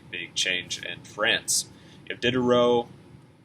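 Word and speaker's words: Diderot: change in france if did a row i believe is how you say that name um i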